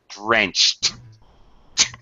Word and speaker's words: drenched: Uh verbs that end with ch drenched, it's a it's a voiceless sound. So the pronunciation is a t sound on the past tense ed. Drenched.